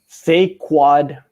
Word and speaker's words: Saquon: You need to say his name correctly. It's Saquon Barkley. Saquon.